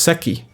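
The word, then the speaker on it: Székely: Oh, pronounced Seki.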